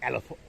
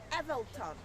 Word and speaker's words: Evelthon: It's not the King Elephant. How do you say that, Hotel Leboeuf? King Evelthon.